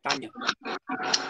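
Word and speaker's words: Tanja: a name like t-a-n-j-a you don't pronounce the the j as jane you pronounced as i like tanya ah look at you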